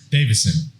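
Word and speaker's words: Deiveson: his name for me divason figuera davison spelled with an e-i there's no a in that front division and that's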